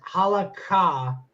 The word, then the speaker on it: halakha: It says in traditional Jewish law, and it says halakha. That's how it's pronounced. That's how it's spelled.